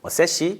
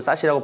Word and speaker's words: SASE: 오늘은 가트너 MQ 리더 보고서 및 보안 산업 현 시점 최강자로 평가받고 있는 포티넷의 SD-WAN, 브랜치, 그리고 세시 또는 사시라고 발음을 하지만 요 대해서 한번 이야기를 해보도록 하겠습니다.